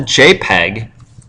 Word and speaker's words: JPEG: It's called the JPEG, which would be spelled like that, but the actual file extension doesn't have the E in there.